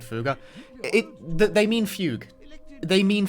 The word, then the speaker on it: fugue: It's pronounced fuga in Japanese, but like they kept it like spelled that way in English, which is confusing.